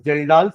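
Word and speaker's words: Kjeldahl's: डमाज़ method and second is जेलडाल्स। Spelling के से चालू होगी। के साइलेंट है उसका।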